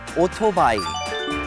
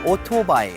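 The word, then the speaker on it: 오토바이: called kicha kicha and a motorcycle in korean is otobayi o tobai exactly four syllables one more time autobah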